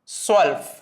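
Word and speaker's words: zwölf: എൽഫ് 12 വരുന്ന സമയത്ത് സ്വൽഫ് സെഡ് വെച്ച് ആയതുകൊണ്ട് എസ് എന്നുള്ള ശബ്ദത്തിൽ ഉച്ചരിക്കുക സ്വെൽഫ് സോ 11 എന്നുള്ളതിന് എൽഫ്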